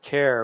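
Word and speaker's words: Kayre: change her professional name so she went with care which is uh what people call her for short anyway so she came up with kind of a interesting way to spell that that looks kind of gaelic that's k-a-y-r-e but anyway i met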